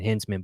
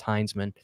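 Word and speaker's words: Hinzman: saying a guy's name wrong I was saying hensman but his name's pronounced hinesman the reason hman I was saying Hinman so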